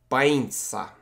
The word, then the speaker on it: pañca: I postaram się to słowo wymawiać bańca. Wydaje mi się, że wymawiam to jak Polak.